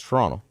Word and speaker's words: Toronto: You don't add the T. Just no T. If you live in Toronto. If you live in Toronto, it's Toronto.